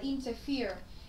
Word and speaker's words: interfere: Can thiệp, xen vào, chúng ta đọc cho ra là interfere. Interfere, như vậy trọng âm của chúng ta sẽ dâm tiết thứ 3 này.